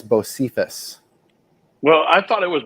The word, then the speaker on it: Bocephus: How do you spell it? It's BOSPHORUS. Yeah, so that's Bosphorus. Bosphorus. But Bocephus apparently is the way they're going with it.